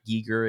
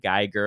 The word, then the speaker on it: Giger: we're probably going to go back and forth with Giger and Geiger. I kind of like the American pronunciation, honestly. Geiger, I've been saying it all my whole life, so I'll probably say it on accident here and there.